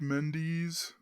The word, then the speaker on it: Mendes: It's pronounced Mendes.